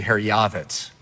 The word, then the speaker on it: Herjavec: Herjavec? You know, the proper pronunciation, you'll be the only guy to ever hear this on TV, is actually Herjavec.